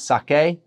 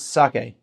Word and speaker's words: sake: So something like sake is we sometimes emphasize the K as sake, or go sake. It's sake, and every syllable is the same amount of time and the same emphasis.